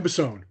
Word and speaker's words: Bossone: BOS, like Boss One. That's what I was about to say. So that's what it reads in my head, and I knew that wasn't the correct way to say it.